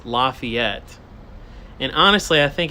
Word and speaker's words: Lafayette: how how Southerners pronounce Lafayette and honestly I think it's just Southerners here in Northern Georgia but they call it Lafayette not Lafayette Lafayette that one always